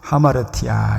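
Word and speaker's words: ἁμαρτία: 근데 그 죄의 어원을 잘 보면 하마르티아, 이렇게 그리스어로 하마르티아 이렇게 발음합니다.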